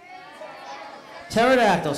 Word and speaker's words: pterodactyls: Pterodactyls, because the P is silent, correct?